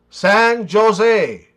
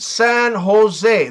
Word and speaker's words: San Jose: San Jose. Officer, it's pronounced San Jose. The J is pronounced as an H in the US, man.